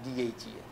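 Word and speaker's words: DHEA: আচ্ছা, প্রোডাক্টের ব্যাপারে খুব বেশি কিছু বলবো না, সব কোম্পানি সব ট্রেনিংয়ে বলা থাকে, কিন্তু correct pronunciation of product name is important. যেমন গাইনিতে দুটো প্রোডাক্ট আছে, ডিএইচএ আর ডিএইচইএ।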